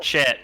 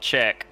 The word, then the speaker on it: Chet: No, it's pronounced Chet, not check.